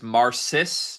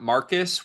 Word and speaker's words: Marcis: And for the record, I believe his name is Marcis, not Marcus, which we were talking about before clicking record.